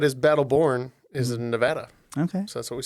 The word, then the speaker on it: Nevada: It's Nevada. Or, as they pronounce it for some unknown reason, Nevada.